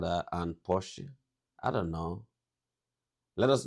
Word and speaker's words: Porsche: I've heard Americans pronounce it Porsche or Porsche. In German, we say Porsche. Porsche. So there's like this short a sound in the end. Porsche.